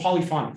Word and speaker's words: polyphonic: Where do you put the accent? Polyphonic. Polyphonic. Thank you. That's better. Polyphonic.